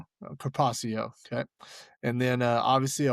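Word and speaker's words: carpaccio: Uh you're going to you're going to want to pronounce that kpacio. Kacio.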